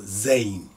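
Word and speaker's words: زاي: same same simple Gazette in the sound so Zane Zen is the same shape as Rodney to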